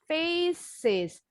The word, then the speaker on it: faces: Face kan akhirannya C. Tapi C-nya ini bunyinya S. Jadi kita tambahin final S-nya bunyinya faces. Jadi nambahin suku kata.